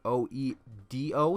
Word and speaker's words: Oedo: I've been saying Odio Tai for the longest time, and no one's ever corrected me, but I've always thought it was spelled O-D-E-O, but now I realize it's spelled O-E-D-O, so it's technically Oedo.